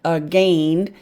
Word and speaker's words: again: Uh, now let's put the second syllable in. Uh, go. Hey. Uh, this looks like gain. Long a silent i. A gained.